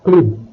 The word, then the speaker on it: club: Words ending with B, K and Q also have the final letter pronounced. Le club, un steak, sac.